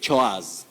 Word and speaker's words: chores: upper word is We say chores, domestic chores. Chore. Chores. It has the long vowel sound O.